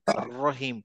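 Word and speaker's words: الرحيم: খায় শুধু উপরে রহিম কিন্তু এরা করতেছে হচ্ছে দুই জায়গায় চাপ দিচ্ছে নিচের দাঁতেও একটু টাচ করতেছে আবার উপরের দাঁতেও টাচ করতেছে এইটা নিয়ে আর রহিম আর রহিম আর রহিম তো তখন একটু গড় গড় গড় গড় মানে একটু রোলিং রোলিং আর বলেন এরা মানে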